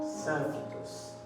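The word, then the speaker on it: σύμφυτος: Il y a toujours dans ce mot-là, toujours en grec, on dit symphytos. Symphytos ou symphytos. Ça dépend des prononciations.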